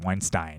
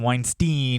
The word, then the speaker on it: Weinstein: I think that's how you say it. Weinstein. Don't want to call him Weinstein because that's got a bad stink on it, because of the rape.